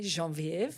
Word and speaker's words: Genevieve: My name is Genevieve, as you correctly said, or as my husband would like to say, Genevieve. He's always like Genevieve. he loves the French, in the movies. the French pronunciation.